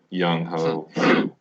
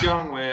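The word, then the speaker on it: Younghoe: Yeah, I mean, it's Young Way, I know, but I just can't resist pronouncing it. I mean, you spell it how it looks, right?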